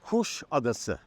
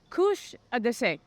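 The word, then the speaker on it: Kuşadası: to you live from kusadasi I said that right John uh the right pronunciation is Kush ad Kush ad yeah in Turkish language it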